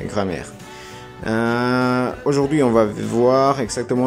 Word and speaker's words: grammaire: Así se pronuncia, grammaire.